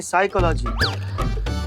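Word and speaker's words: psychology: पिसाई का लागी तो साइकोलॉजी नहीं साइकोलॉजी पी साइलेंट होता है तुम हो जा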